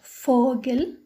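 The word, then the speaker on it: Vogel: فاو تنطق اف مثل كلمة فوغل فوغل وهو العصفور.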